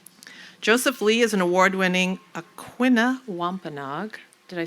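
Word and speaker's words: Aquinnah Wampanoag: Joseph Lee is an award-winning Aquina Wampenog, did I say it right?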